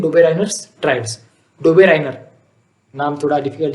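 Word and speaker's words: Döbereiner: डोबेराइनर, अपना डोबरमॉन नहीं, डोबेराइनर। बहुत बच्चे उसको डोबरमॉन बोलते हैं, गड़बड़ी में डोबरमॉन नहीं, डोबरमॉन मतलब हमारा वो डॉगी होता है, कुत्ता, वो नहीं, ये डोबेराइनर है, साइंटिस्ट है, इज्जत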